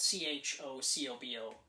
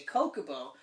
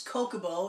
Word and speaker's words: Chocobo: silent or not yeah my argument was my name is spelt chri yes I see Chris so I would say Coca Bo but chocolate misspelled CH oh yeah I can see why people would say chocobo and it's wrong completely wrong it's Coca